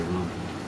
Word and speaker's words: Rama: But, you know, I think the preferred thing is Hare Rama. And that's the original Sanskrit, and the Ma is pronounced in Sanskrit. In the other languages, the Ma may not be pronounced Hindi or So, you know, you